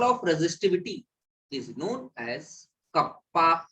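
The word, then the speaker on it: kappa: अच्छा, एक नोट डाल, क्या 1/ρ मतलब reciprocal of resistivity is known as कप्पा के, इसको कहते हैं कप्पा, ठीक है ना, इसका नाम होता है कंडक्टिविटी।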